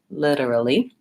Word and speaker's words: literally: I'm gonna look at making sure that I'm stressing and lengthening on the first syllable lid or literally that I'm going quickly on the quicker syllables and then that I have the correct file so the first file is the wow I don't want it to sound like an e I don't literally I want the sound and then I have